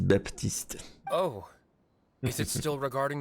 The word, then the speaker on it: Baptiste: Baptiste, ils disent Baptiste.